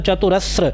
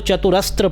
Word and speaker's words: चतुरस्र: चतुरस्रो गभीरात्मा, चतुरस्रो देखिए ये स है, स के नीचे र लगा है तो चतुरस्र, कई लोग इसको चतुरस्त्र पढ़ते तो चतुरस्त्र नहीं है, त्र नहीं है,